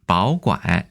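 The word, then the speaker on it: 保管: 바오관 , 바오관이 됩니다 . ' 바오 ' 는 3 성이고 , 이것 도 3 성 이지만 원래 는 ' 바오바오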